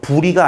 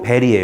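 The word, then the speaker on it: bury: 종류가 종종 뭐 한데요 부리가 아니고 베리의 요 발음이 왜 매장 하다 묻다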